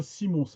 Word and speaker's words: Simons: Et Simons, son nom est flamand. Son père et son nom de famille, hein, Simons, avec le S qui se prononce à la fin.